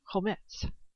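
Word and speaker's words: חומץ: Now, vinegar in the Old Testament Hebrew is pronounced chometz, meaning pungent or fermented.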